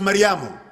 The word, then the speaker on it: Maryam: Maryam is usually pronounced Maryamu. Fatma is usually pronounced Fatuma, and things like that.